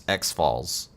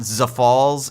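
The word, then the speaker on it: X'Fal's: name is Harrison I asked him how to pronounce XF Falls it is it is not Za Falls it is not xfs it is XF Falls that is the Canticle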